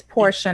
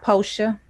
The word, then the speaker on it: Portia: my name right cassidy it's portia not poster yeah and and why